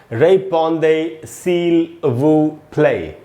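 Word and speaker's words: répondez s'il vous plaît: तो कुल मिला के एक साथ इसका प्रोनाउंसिएशन होगा रेपॉन्दे सील वू प्ले।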